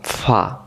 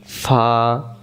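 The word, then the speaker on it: فاء: একটি নোক্তা তার নাম ফা তাহলে এ অক্ষরের নাম কি? ফা এই অক্ষরের নাম ফা। এই অক্ষরের নাম ফা। ফা আগেও পড়ছি। অনেকে আমরা ফে ফে পড়ছিলাম। ফে ফে না অক্ষরের নাম ফা।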